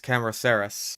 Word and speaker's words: Cameroceras: I believe that is a soft C right there. It's Cameroceras. Because if I'm not mistaken, the Ceres refers to the fact that it's a giant horn, basically. And I believe Camero means chambered. Like a chambered nautilus, so it's chambered horn.